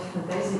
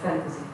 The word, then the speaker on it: fantasy: So, about Oljan, when you are describing genres, you need to pay attention to pronunciation. Like, for example, not fantasy but fantasy.